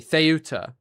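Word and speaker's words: Ceuta: Theuta as well. I apologize for saying well someone just said it's pronounced uh excuse me theuta uh sorry but when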